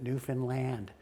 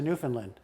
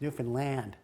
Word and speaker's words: Newfoundland: That's how they pronounce it, Newfoundland. So I get up to the location. Wait a minute, Newfoundland. Yeah, as opposed to Newfoundland. Got it. It's Newfoundland.